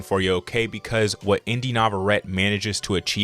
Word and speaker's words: Inde Navarrette: From the actress Inde Navarrette is how you pronounce her name.